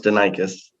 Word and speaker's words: Danakis: Technical Center, and Nick Danakis, who's the shop foreman at Sweeney Chevrolet. And Nick, I hope I pronounced your last name correctly. Close, Danakis.